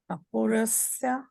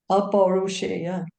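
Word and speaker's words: अपौरुषेय: Apurasya. That's right. How you say it? Pronunciate it? Aparusheya. Apurasya. Aparusheya.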